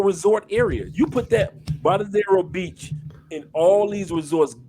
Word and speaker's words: Varadero: Is pronounced Bravado. Because in Spanish V make a B sound. That's yeah. Varadero.